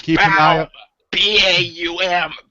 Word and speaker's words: Baum: B-A-U-M. Baum. You pronounce the A before you do the U.